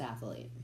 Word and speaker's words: athlete: with you nice fabulous athlete fabulous ass what athlete athlete athlete see again no it's not athlete athlete it's not you're adding a a a syllable you say athlete athlete